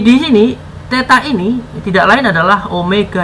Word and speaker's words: Omega: per detik jadi gimana Omega ini ngetik bacanya Omega bukan wae ya bukan W ingat bukan gue nih salahnya bukan wae kalau ini usahanya Omega